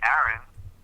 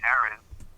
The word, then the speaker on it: Aaron: We could maybe say it that way as well, but it's Aaron. Only one pronunciation with two A's because one is silent, a consonant, one is a vowel.